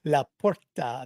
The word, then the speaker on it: LaPorta: Laporta. La Porta.